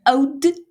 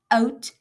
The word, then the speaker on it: oud: "Hoe oud" not "out". It's "Hoe oud is jy?"